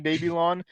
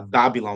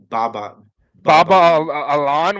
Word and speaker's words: Babylon: yeah I'm very yeah Babylon whatever I'm very excited for I'm uh baba baba Alan what bro that's definitely not how you say it dude that's definitely not how